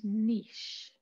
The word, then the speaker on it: niche: an ecological niche and i say niche i know other people say i don't like that word i like niche i don't really know why because it rhymes with witch or another word that i don't like at all so i like to say niche and that is a